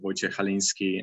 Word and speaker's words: Wojciech Chalinski: myself for you who are struggling with a pronunciation of my name my name is wojciech halinski and currently i'm environment artist at cd project